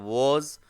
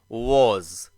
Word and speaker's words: was: सीखने जा रहे हैं वॉज वेर। सबसे पहले उच्चारण को अच्छे से समझ लीजिए। वॉज, लिप्स जो है वह हल्का राउंड शेप लेगा और उच्चारण होगा वॉज। इट इज नॉट वाज, इट इज वॉज।